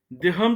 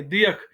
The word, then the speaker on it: दियख: अब इसमें देखिए, मैं अस्त्रमुच नंदर ये जनित कि खाब सीमंस दियख दर्शन, दिहम दर्शन नहीं है, दियख। ये कष्टवा रामबन, ये उस साइड का प्रोनाउंसिएशन है।